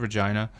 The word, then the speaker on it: Regina: So the city that rhymes with fun. Yes. Okay. Absolutely. So anyways, we got to Regina and we're hosted there by ResX Magazine.